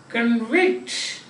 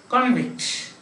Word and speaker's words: convict: an increase and next we have got convict to convict somebody to say that he has done something wrong convict means he's a convict means he's a he has done something like he's a person who has done something wrong the other is convict the judge convicted a person therefore he has become a convict one is where the other is known next time we can